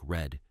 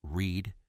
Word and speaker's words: read: read is a homograph when pronounced like red it refers to the past tense of the verb but when pronounced anounced like read it represents the present tense same spelling different sounds